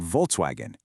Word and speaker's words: Volkswagen: How do you pronounce the German V, like the one found in the word Volkswagen? Well, it sounds just like an English F.